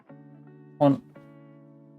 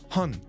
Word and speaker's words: Hon: Hon. Kinko. A safe. Kong. Japanese only has a mouth. Hong. Hong. Not hun. Japanese only has.